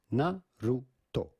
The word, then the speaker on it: Naruto: So in Japanese, this would normally be pronounced Naruto, Naruto, Naruto, Naruto. But in English, it is normally pronounced Naruto.